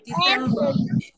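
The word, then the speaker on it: December: টি same ই আর ডিসেম্বর ডিসেম্বর শেষের র টা উচ্চারণ করবো না শেষের র টা উচ্চারণ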